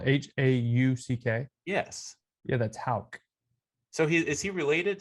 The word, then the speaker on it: Houck: if you're listening to this john it's not hook it's hauck john houck like h like it said it's pronounced like h a w hal regardless he